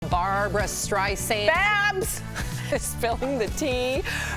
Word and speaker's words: Streisand: Streisand, I said, my name is with a Z. It's Streisand, like sand on the beach.